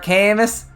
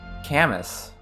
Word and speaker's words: Camus: don't know any like if you don't know that's a French name right I mean it's very likely that you would just say Camas that's what we say Albert Camus Camus yeah I mean yeah